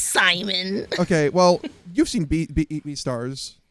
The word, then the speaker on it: Simon: I mean, I know it's a Japanese pronunciation of an English name, but there's something about it where I'm just like, oh, Shimon, Simon. To me, it's Simon.